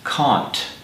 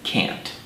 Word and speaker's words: can't: like to mention that speakers of British English normally pronounce this word as K whereas in America we pronounce it can't and now for an